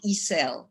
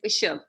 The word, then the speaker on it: Ishel: Let me just ask you, it is Ishel, not Isel, right? It's Ishel.